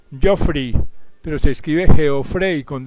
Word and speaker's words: Geoffrey: Su nombre se pronuncia Geoffrey, pero se escribe Geoffrey con doble F para las personas que quieran buscarlo en el internet.